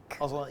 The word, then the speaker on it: Azlan: Azlan, yeah, that's right. That's how you pronounce the name.